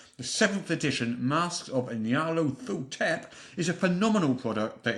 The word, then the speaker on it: Nyarlathotep: I pronounce it Nyarlathotep.